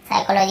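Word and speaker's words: psychology: Clear हो गया, साइकोलॉजी ये सब हमें पढ़ लिया।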